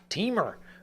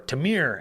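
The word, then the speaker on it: Temur: My favorite, Teamer, or Tamir, as some people say. Teamer. Those people are stupid. They're just wrong. They're mispronouncing the word.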